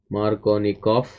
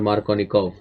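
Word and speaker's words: Markovnikov: Marc Tony coughs Rule Marconi cough or Marconi cough you know that it can be pronounced both ways this follows Marconi coughs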